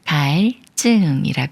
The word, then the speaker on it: 갈증: 꾸며주는 말에 리을 받침이 초성 지을 만났으니까 초성 지우이 쌍지 소리인 쯔가 되면서 갈증이 읽어요 갈증 오늘의 엔딩 문장은